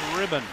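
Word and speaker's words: Rydan: number 39 maximum ribbon r-y-d-a-n pronounces it ribbon back to the point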